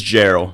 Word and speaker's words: Jarrell: It's Jarrell. Jarrell.